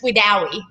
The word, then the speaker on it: Wedowee: Okay, it looks like Weedowee. That's what everyone calls it, Weedowee, but it's Wedowee. Wedowee. Okay, so I put the emphasis on the wrong syllable.